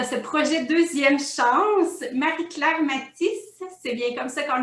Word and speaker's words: Mattis: Marie-Claire Mathis, c'est bien comme ça qu'on le prononce. Sois la Oui, bienvenue Mathis.